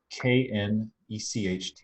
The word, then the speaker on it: Knecht: And as you hear, knecht, German keeps the k sounding before the n.